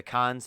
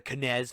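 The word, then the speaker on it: Cannes: was mispronouncing the the cons festival for forever i was calling the canez festival i didn't know how to pronounce it it's like ken it's like con like that's it you just don't like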